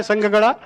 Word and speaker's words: ಸಂಘ: ಉದಾಹರಣೆಗೆ ಮಹಿಳಾ ಸ್ವಸಹಾಯ ಸಂಘ ಸಂಘ ಅಂತಂದ್ರೆ ಅಲ್ಲಿ ಮಹಾಪ್ರಾಣ ಸಂಘ ಅಂದಬಿಟ್ಟು ಸಂಘ ಹೇಳಿದರ